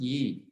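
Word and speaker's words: 意: called e now you sometimes see it spelled y i and sometimes you see it spelled just i but it's pronounced e and it means intention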